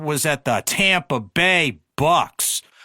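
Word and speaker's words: Bucs: And then his first job was at the Tampa Bay Bucks. Rhymes with Ducks because that team was a cesspool before he got there.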